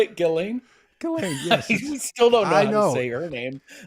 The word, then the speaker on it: Ghislaine: Ghislaine, yes.